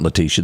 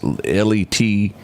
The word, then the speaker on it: Letitia: Letitia? No, that's not Letitia. That's Letitia. Lita? I don't know how you say it. You can say that, Letitia. Ain't no S up in that. That's what the T's for.